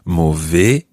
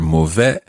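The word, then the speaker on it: mauvais: that would be ill that word ends in the letters a i s and those letters are pronounced slightly differently in different parts of the french speaking world sometimes you'll hear movie other times you'll hear movet and it just really depends where you are if you say mo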